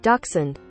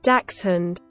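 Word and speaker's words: dachshund: In the US, we tend to say daxund and swallow the end of the word a little bit. So, if you hear an American pronunciation, daxund, compared to a British pronunciation, daxund, the hound in the American speech is usually not there.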